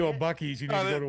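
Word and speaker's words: Buc-ee's: Bucky's. You need to go to a Bucky's. that is how you say that. It's not bussies.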